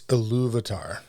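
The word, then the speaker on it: Ilúvatar: you can do is you can try to emphasize the second syllable. So like Iluvatar, it's Iluvatar.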